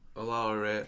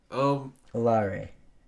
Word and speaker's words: Oloare: Oloare. Oloare. That is an awesome last name. Wait, what are you saying right? Is he saying it right? Oloare.